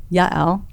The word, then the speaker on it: Yael: First name Yael. How did I do with that pronunciation?